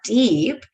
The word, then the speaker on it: DĒP: Now, deep, and I know it's only DEP, but it's pronounced deep because that sounds great.